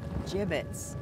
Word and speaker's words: gibbet: if we had some gibbets leftover jib it's what it's pronounced jib ins are you sure